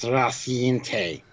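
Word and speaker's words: Rocinante: It's pronounced Rossiante.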